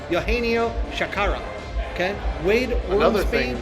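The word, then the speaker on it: Eugenio Chacarra: Oh, actually, I have this pronunciation correct. Eugenio Shakara.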